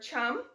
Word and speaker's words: chum: Our thumb rhymes with the word chum, so it is the chum or the dog salmon for our thumb.